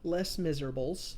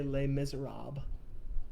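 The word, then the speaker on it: Les Misérables: harassing adam about this um in the book less miserables you don't need to send me a text message and tell me that i'm pronouncing it wrong i will never say les miserables it will always be less miserables there is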